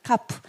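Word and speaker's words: כף: 카프, 키역 발음.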